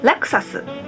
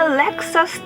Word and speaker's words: Lexus: it one more time we pronounce it pretty similar there are some theories about the origin of their name but seems like it's a coined word comes from the German word luxas that means luxury is a fancy brand